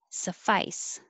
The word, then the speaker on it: suffice: 30 homeostasis homeostasis 31 suffice maybe i should put ice because it's spelled ice it sounds like an s that's what i want